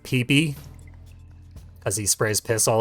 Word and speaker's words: Peep: Also, even though it's spelled peep, it's supposed to be pronounced peepy because he sprays piss all over the place.